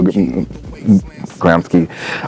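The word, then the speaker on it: Gramsci: Davis quoting Grant gramsky I'm the Italian I pronounce that Antonio gramsky I'm talking about the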